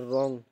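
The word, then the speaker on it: wrong: दूसरा देखो, choose the silent letter in the word रोंग।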